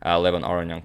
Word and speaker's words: Levon Aronian: subscribers from Armenia that I am in fact pronouncing Levon Aronian correctly.